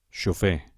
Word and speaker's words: xofer: Comencem per les agudes, intentem pronunciar-les. Un moment abans que ho digui jo. Xofer, oboè, alfil, zenit, futbol, el Tibet, els Carpats.